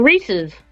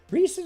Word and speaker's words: Reese's: their peanut butter stuff Reese's are good is it Reese's or recess it's rees's Reese's I've been I was in as a kid it's not rees's there's no I it's Rees who's who's saying it right